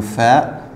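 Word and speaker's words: فاء: Le fa, ça s'écrit comme ça. Fa. Il y a un point au-dessus. Fa, c'est comme F, c'est le F.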